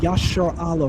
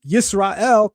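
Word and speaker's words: ישראל: If you choose to pronounce the name Yasharallah or Yasharel, it no longer holds that meaning, because now you're treating the root as if it's based in the shin sound.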